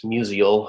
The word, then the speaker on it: Musial: I'll stop being mispronouncing him like most St. Louisans do. It's Musial.